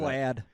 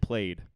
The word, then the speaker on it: plaid: Plaid. Yeah. He said played. Oh, Lord. He said played out loud. I've never heard that before.